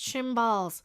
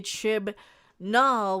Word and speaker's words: Chibnall: Jodie announced last year she's leaving the BBC series helmed by Chris Chimballs. So I can't mispronounce his name anymore because I can't say Chibnall without taking a breath.